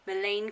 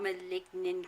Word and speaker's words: Maligne: It's Maligne Canyon, not Maligne Canyon, whatever way I pronounced it.